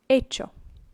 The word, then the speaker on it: hecho: But it is not hacido, it is hecho. Hecho. Remember, ch is pronounced as a ch. The h is silent, and so hecho.